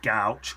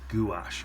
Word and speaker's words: gouache: in some um designers White gauch or gouache depending on how you say it so I'll have a